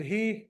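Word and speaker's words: היא: He, which means her, she. And in English, again, phonetically, it'll sound like he.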